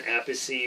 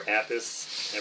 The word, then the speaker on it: Appice: playing it this has Carmen a PC or Appice depending on PC a PC depends on who pronounces his name now this album is